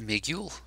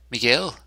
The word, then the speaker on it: Miguel: I'm supposed to go is it Migel Miguel not migu Miguel isn't it I always mispronounce this